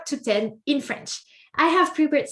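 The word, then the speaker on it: dix: And number 10 is 10. 10. And you may have noticed it's extremely similar to 6. Okay, the X is pronounced like S.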